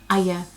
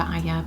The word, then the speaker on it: Arya: Thrones books says that's the proper pronunciation for her name is two syllables so Arya, however most people pronounce